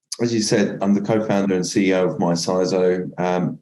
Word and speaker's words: MyCISO: Is that how you pronounce it? Yeah, it's MyCISO. MyCISO.